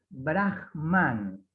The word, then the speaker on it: Brahman: El Brahman. Se lo escribo abajo. Se escribe como Brahma, pero con una N final.